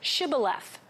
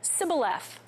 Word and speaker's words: Shibboleth: Now at the Jordan River, everyone who wanted to cross had to say Shibboleth. The men of Ephraim couldn't pronounce the sh, and they said Sibboleth.